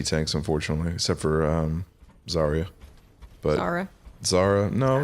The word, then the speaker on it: Zarya: a y r a I thought it was z a r a Zara no no it's zarya it's got a y in there somewhere I have no idea